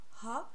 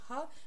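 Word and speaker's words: は: que dans Dewa Arimasen, c'est Ha, mais ça se prononce encore Wa. Alors oui, ça c'est pareil, c'est parce que ça vient de la particule, justement. Quand c'est une particule, on le prononce Wa.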